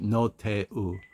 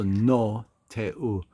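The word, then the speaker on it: Roh Tae-woo: So No Tae-u. So no, though, it's like just like the word no, N-O.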